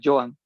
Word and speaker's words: Johan: bueno, yo siempre lo pronuncio Joan, Johan, pero yo sé que en realidad bien dicho sería Joan.